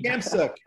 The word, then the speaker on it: Khamsouk: I switched the K and the T. Khamsouk.